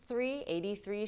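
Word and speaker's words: Aidee: 83, which is spelled like A-I-D-E-E, 83.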